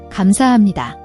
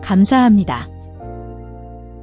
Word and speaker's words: 감사합니다: 감사합니다. Now you try. Formal. 감사합니다. Casual. 고마워요. 감사합니다. Fill in the blanks. The answer is in conversation. 감사합니다.